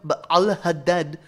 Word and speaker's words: Ba'al Hadad: And if I was going to pronounce it right, I would call him Ba'al Hadad, but that medial ayin, which still exists in modern Arabic, is a really unpleasant sound.